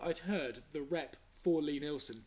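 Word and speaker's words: Lie-Nielsen: If he's trying to make me say it like Lie Nielsen, then no, I'm not going to fall for that bait. It's Lee Nielsen. I used to say it the wrong way because I'm sure I'd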